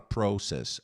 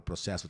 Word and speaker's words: process: Ela fala process. Essa palavra processo tem duas pronúncias corretas. Você pode falar process ou process.